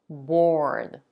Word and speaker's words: board: and curse let's practice board has the O as an or and more remember to round your lips bored board born now birth with